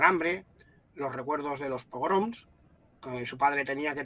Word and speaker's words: pogrom: étnicos minoritarios de hecho es una palabra muy curiosa porque a los españoles nos cuesta pronunciarla porque suena como programa y no tiene nada que ver nosotros a veces hay gente que pone una r pone pro y no es pogrom pero sí no nos cuesta horrores pronunciarla Aunque en las imágenes